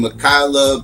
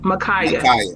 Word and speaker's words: Ma'Khia: verdict came down um a sister by name michaela bryant i believe i pronounced that right michaela michaela uh um brian kaya makaya okay makaya bryant um she got shot by